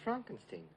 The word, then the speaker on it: Frankenstein: No, it's pronounced Frankenstein.